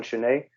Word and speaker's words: Chenet: Although my name is quite confusing as well because the T is silent, so it's Chenet.